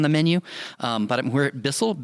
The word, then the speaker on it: Bisl: But we're at Bisl, B-I-S-L, one word Bisl. It's all in caps, but it's pronounced Bisl.